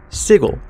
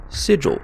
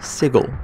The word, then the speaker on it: Sigil: The name of this city is Sigil, kind of like you're saying Siegel really fast. A name that I instinctively read as Sigil, but it is in fact Sigil.